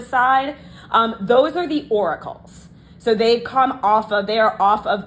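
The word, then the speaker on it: auricle: of like Flappy bits these are called the oracles um and that's spelled Au um where is it Au r i c l e not Oracle like um the Oracle of Deli if you guys know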